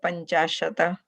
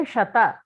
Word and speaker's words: पञ्चाशत्: Tat panchashat. There is a halantam there. Halanta. So your pronunciation should be according to that. Okay. If you say shata, that is different. Shat.